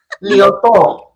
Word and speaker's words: Liautaud: you gotta try to put the accent at the end of it. Liautaud. Liautaud.